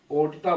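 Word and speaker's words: aorta: गया, और यही देखिए एओ, अरोटा, है ना, अरोटा, ओर्टा बोलते हैं, ओर्टा, कुछ ऐसा है स्पेलिंग, इसका ध्यान देखिएगा।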